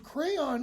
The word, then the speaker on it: Creon: In other words, Crayon is showing what? Well, you can pronounce it Creon if you want also.